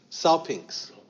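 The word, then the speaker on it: σάλπιγξ: with this gyt and this is pronounced South pinks Saul pinks okay like P INX you know Saul pinks it's really hard to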